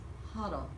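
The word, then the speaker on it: Hodel: What's the best part about playing Huddle? Did I say it correctly? Yes, you nailed it. Huddle. Muddle and Huddle.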